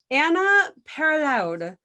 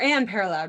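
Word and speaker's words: Anne Parillaud: And the main character, who is played by, I wrote her name down somewhere, Anna Paraloud, who is not, or Anne Paraloud, not Anna.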